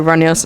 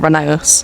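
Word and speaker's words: Rheneas: Yes, you pronounce it like Renius, not Renee.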